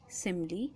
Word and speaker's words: simile: So it's spelt as S-I-M-I-L-E, simile. So most of us are confused in the spelling simile and smile. So in this we can see two spellings are written, smile and simile.